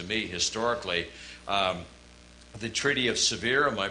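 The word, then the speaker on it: Sèvres: significant thing to me historically the treaty of severe am i pronouncing that correctly yes uh was a a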